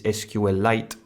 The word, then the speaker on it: SQLite: and site and yes I know the correct pronunciation is SQL light so what is sqlite but it's kind of annoying to say SQL